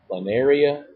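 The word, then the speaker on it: planaria: to which class okay remember plaria rhymes with tural areia an areia is tural area okay that's question 21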